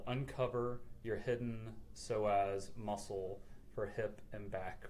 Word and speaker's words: psoas: little bit about your so as and I think my my title went up there but basically it's it's written PS a psoas and it's pronounced so as and most people are